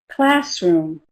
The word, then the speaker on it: classroom: Classroom. Which syllable is stressed? The first one, right?